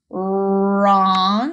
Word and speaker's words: wrong: of our site words wrong with a silent w and better another one